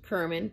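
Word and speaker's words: Cerman: her her name was gail kerman pronounced kermin and she was an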